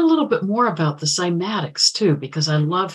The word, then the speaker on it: cymatics: pronounce it schematics but in the west we pronounce it cymatics and this is the ability to make sound